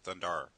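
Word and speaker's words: Thundarr: you're pronouncing that right you have to enunciate the extra R thundar thundar thundar kind like a pirate thundar our Lords of light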